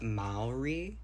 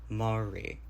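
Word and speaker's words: Māori: clear that to me that Mai was incorrect and that actually like the the pronunciation is more Mari um like M instead of ma um it could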